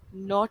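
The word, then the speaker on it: knot: भी नोट होती है तो उस पर्टिकुलर वर्ड में जो बेवर्ड साइलेंट है वह है कि तो के यहां पर साइलेंट है लेकिन प्रणाम सेशन सेम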